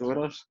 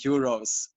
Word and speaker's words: Uroš: My name is Uroš. It's pronounced Uroš, and I have like problems with my financial state, and you call me euros, like money.